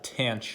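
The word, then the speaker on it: tanh: hyperbolic functions so this tan one which is pronounced uh tange of x according to the textbook uh we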